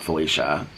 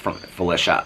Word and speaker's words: Felicia: It's not Felicia. Felicia. It's pronounced Felicia.